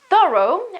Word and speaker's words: thorough: Then there is thorough, which is also quite similar to through, but in this case we have to add something, which is the O after the TH sound.